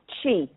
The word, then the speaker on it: chi: Prana, and then, chi. Oh, chi. C-H-I, yeah.